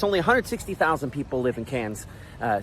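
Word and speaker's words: Cairns: Only 160,000 people live in Cans. Uh C A I R Ns. They say cans.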